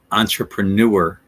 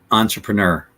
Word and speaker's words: entrepreneur: entrepreneur based on Phonics the incorrect way is Entre entrepreneur that's incorrect entrepreneur is not correct entrepreneur it's not newer it's Nur that's the difference and